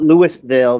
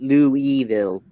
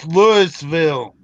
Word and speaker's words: Louisville: I mean, they don't call it Louisville; they call it Louisville. yeah. It's Louisville. Who the hell's Lewis?